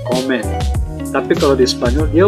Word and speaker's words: comem: Nah, perbedaannya adalah di bahasa Portugis dan Spanyol tuh, kalau di Portugis dia udah M, dibacanya N, comen.